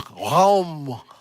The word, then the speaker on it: Raum: trying to teach me how do you say room in German. And it's Raum. And he's like, no, it's Raum. and like, you know. So you have this, it's kind of a guttural sound.